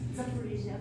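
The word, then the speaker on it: Zaporizhzhia: They have a sister city in Ukraine, and I forget how to pronounce it, something like Zidofor or something. It's Zaporizhia.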